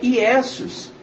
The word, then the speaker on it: Iesus: No latim a pronúncia é Iesus, que no significado significa isto é um porco, que era o sacrifício feito para Zeus.